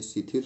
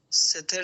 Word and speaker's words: स्थिर: जी, इसका भी उच्चारण कीजिए, शिथिर सुखम आसनम। स्थिर सुखम आसनम।